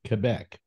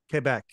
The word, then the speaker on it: Quebec: uh uh in that I always uh call it Montreal not Montreal but Montreal Montreal that's right and you just said Quebec Quebec that's right so everybody if you want to honor Canada you will pronounce those ter names correctly of course we